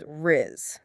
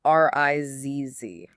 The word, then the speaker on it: rizz: The first one you'll see everywhere is Rizz. That's spelled R-I-Z-Z.